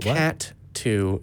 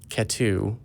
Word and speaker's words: Katu: And I was it's like, not Cat 2, it's Katu. You should say it like it's almost one syllable, and it's Katu. It's not spelled with a number, as someone once thought at one point.